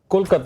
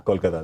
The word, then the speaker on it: Kolkata: Kolkata is a Bengali pronunciation.